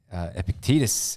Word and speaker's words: Epictetus: I believe it, Epictetus is how you pronounce it.